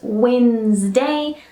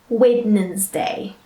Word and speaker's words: Wednesday: all right another one where it's only two sounds all right instead of three so try not to add an extra sound to it so let's go over that one again it's Wednesday not waitin ins day all right so just